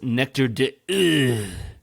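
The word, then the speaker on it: Nectar d'Òr: two or at some point I believe it's pronounced nectar dude that is the correct French French pronunciation yes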